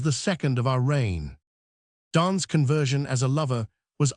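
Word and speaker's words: Donne: He summed up the sorrows of the situation in the famous linear line which has some additional interest as suggesting the correct pronunciation of his name. John Don and Don undone.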